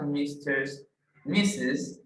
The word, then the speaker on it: Mrs.: Okay, this word MRS, okay, the correct pronunciation is Mrs., no Mr. If you only see M and R, that is Mr. But if you see MRS, it's talking about a woman.